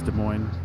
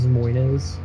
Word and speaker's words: Des Moines: Because it's spelled Des Moines, but it's Des Moines. it. Des Moines.